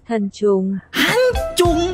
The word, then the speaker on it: Thần Trùng: Dan gua sempet nyoba di Google Translate, tantrum itu dibacanya gini, coy. Nih, Hancung, bukan tantrum.